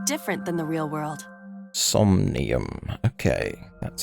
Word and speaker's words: Somnium: Somnium. Okay, that's how you pronounce it.